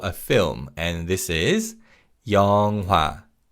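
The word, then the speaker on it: 영화: And first up is the word for a film and this is Yonga. Yongwa. Now when we say this word in natural speed in is almost silent.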